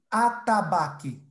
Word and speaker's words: atabaque: E a última, atabaque.